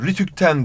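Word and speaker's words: RTÜK'ten: Ve kısaltmalardan sonra gelen ek son harfin okunuşuna göre gidiyor. Yani radyo televizyon üst kurumundan demiyorsun. Rütükten diyorsun.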